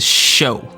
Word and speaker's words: Shou: get into the nitty-gritty i want to confirm it is pronounced the show you uncultured monkeys as